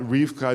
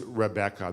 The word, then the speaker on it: Rebecca: so it seems that Rifka is actually not the original pronunciation it seems that the original pronunciation of the word was Rebecca that it was three syllables not two syllables it seems that the